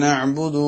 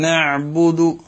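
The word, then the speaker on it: نعبد: ഇയ്യാക നഅബ്ദു, ഇവിടെ ഐന് സ്വഹീഹല്ലാതെ ആയിപ്പോകുന്ന രണ്ട് മിസ്റ്റേക്കുകളാണ് സാധാരണഗതിയിൽ ആളുകളിൽ നിന്ന് കേൾക്കുന്നത്. ഒന്ന്, ഐന് തീരെ ഉച്ചരിക്കാതെ തൊണ്ടയുടെ മധ്യത്തിലേക്ക് തീരെ നമ്മൾ ഉച്ചാരണം കൊടുക്കാതെ വെറും അലിഫായിട്ട് ഉച്ചരിക്കുക.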